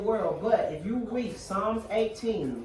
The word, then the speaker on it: Psalms: Psalms. It's The Psalms. P is silent and then it's spelled exactly how it sounds.